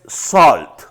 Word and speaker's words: salt: numéricamente Sugar azúcar Sugar solt suena como con una o es Ey elty la pronunciación correcta es Salt Salt la forma correcta rice arroz Royce recuerda sal se dice Salt rice arroz se dice